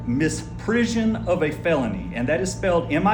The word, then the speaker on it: misprision: It's prision. It's almost like prison but you have the i o n.